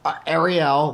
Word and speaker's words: Arielle: Arielle, like the Little Mermaid. Yep. She was born a year before the Little Mermaid. And what's funny is that Ed and I both have 4 kids. Arielle's his baby, and my baby, Zach, is filming us.